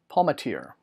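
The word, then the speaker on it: Palmatier: throne of ammon core trilogy by Joshua Palmateer Palmateer that's it yeah I'm pretty sure that sounds pronounced anyway this will be out on the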